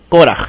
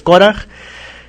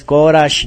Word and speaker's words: Córaj: Al final como j española, no es corash ni nada de eso, es coraj.